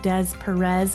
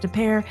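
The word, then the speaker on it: Des Peres: Peters Barnes, um SSM, Depair. If you see the word Depair, it looks like Dez Perez, but just know it's pronounced Depair.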